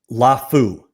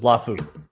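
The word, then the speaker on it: Laufau: I've gotten a couple different pronunciations on his name. Let me make sure that I'm going to get it right because I don't want to say it wrong. Lafu is what the current pronunciation is.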